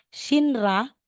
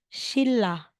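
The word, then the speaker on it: 신라: n magiging R so Kapag daw si n ay followed ni R si n ang bigkas niya is R so aside or Instead na sasabihin mong shinra magiging shilla um Ma'am pwedeng balik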